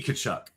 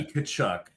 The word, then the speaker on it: Tkachuk: There's obviously a T in the name. And shout out to Soupy. As Joe says, T. Tkachuk. Yeah. Tkachuk. Well, I should have had I've got a Matthew Tkachuk 4 Nations jersey.